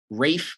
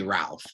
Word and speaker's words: Ralph: Um a recent film adaptation or fairly recent film adaptation starring Rafe Fines. I always get this guy's name wrong. You want to say Ralph, but it's Rafe.